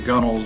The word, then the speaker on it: gunwale: different sides of the gunnels in, or gunwales, I think is how it's spelled, but it's a gunnel.